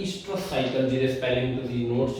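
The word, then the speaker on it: oestrus: ईस्ट्रस, ई तो भी शुरू होता, ओ तो भी होता, वो साइलेंट होता है।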